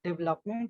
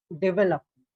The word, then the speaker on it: development: into syllables right uh when we say development it is not development it is development right development this is